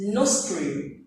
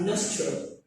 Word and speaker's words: nostril: you look at it you think it is no string okay but it's actually pronounced as nostril so that it sounds like you are okay